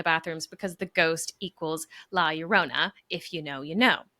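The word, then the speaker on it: La Llorona: I joke that the ghost is drawn to the sink and the bathrooms because the ghost la is it laurona?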